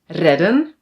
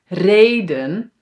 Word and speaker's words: reden: We must pronounce this as mannen, redden, zonnen. But no no no no no, that's not correct. We pronounce these words as manen reden and zonen. So now it is long.